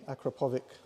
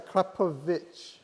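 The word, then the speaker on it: Akrapovič: we'll be putting on the sexy acropolis if as i pronounce it acropolic link pipes a crap of it i've just i've just been corrected it's a krapovic right so we'll what we'll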